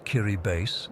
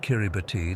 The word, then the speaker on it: Kiribati: Kiribati, pronounced Kiribase, not Kiribati like I embarrassingly called it at first, is about as remote as you can get.